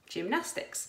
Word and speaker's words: gymnastics: do in PE gym gymnastics so they sound like they should be let everything with the letter J but they're actually written with that G the soft G sound you can also have